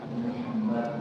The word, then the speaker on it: Muhammad: Always, don't try to imitate what those writers want to say. Okay? You say Muhammad. If they can't pronounce it properly, that's their problem. Teach it as well, but you yourself say Muhammad.